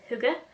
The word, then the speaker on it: Hygge: And my friend is actually Danish, and she, I think, says Hygge. So something similar to that. So that's actually how you're meant to pronounce it.